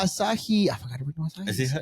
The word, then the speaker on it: Asahi: I forgot to read Asahi. Is that how you pronounce it? Yeah, dry beer, but I love it.